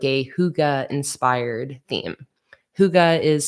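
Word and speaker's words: hygge: Sticker Collection I'm currently designing that's like a Huga inspired theme Huga is spelled h y g g it's like a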